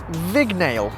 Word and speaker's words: Vignale: You’ll probably easily recognise this car as the Ford Mondeo – but what may stump you is this word here – ‘VIG’ ‘NALE’ or, “Vignale” as it’s actually pronounced.